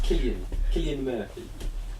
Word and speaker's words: Cillian Murphy: I'm not sure how you pronounce his name actually. I think it's Cillian Murphy.